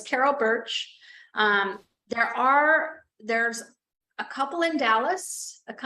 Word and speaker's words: Bertsch: So it's the law office of Carol Birch, like the tree it sounds, but it's not spelled like that. It's BERTCH, BERTSCH. Yeah, so it's Carol Birch.